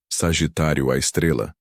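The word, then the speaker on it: Sagitário A*: o nome poético de Sagitário à Estrela, pronunciado à Estrela.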